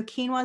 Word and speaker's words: quinoa: cooking with it so quinoa is definitely something if you can't pronounce it that you should try to it's the q-u-i-n-o-a which sounds like k-e-e-n if you want to